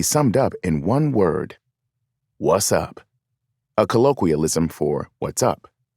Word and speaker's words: WZUP: radio station with the call letters WZUP, pronounced what's up.